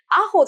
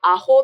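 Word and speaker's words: アホ: このイントネーションも大事です。アホじゃなくて、アホって言います。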